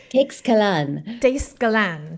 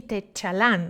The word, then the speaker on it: Teixcalan: way to pronounce it if I was really using like the Nahuatl pronunciation that it's inspired by. But I deliberately am not, because it's not real Nahuatl, and I don't want to say that it is.